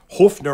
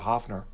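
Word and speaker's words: Höfner: it um is the the only people I've ever heard pronounced it that way are Germans even McCartney calls it a Hoffner you know well let's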